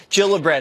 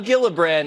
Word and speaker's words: Gillibrand: right here alright so Kirsten Gillibrand not Gillibrand it's a soft cheap now the Minnesota woman